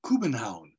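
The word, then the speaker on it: København: the city of Copenhagen which is actually pronounced Cuban Hound this is one of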